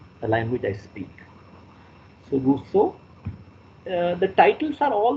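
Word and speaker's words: Rousseau: d e r and Russo r o uou s e Au U it's pronounced in the French way the E is u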